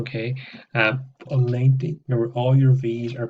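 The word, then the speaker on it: noventa: On 90, remember all your V's are pronounced like a V, so 90. That's a B sound there.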